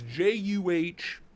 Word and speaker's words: Javon: You spelled your own name wrong. It's Juhvahn.